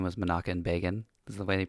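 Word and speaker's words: Menachem Begin: couple things so the prime minister's name was manakan Bean is the way they pronounce itan I said bean and um I'm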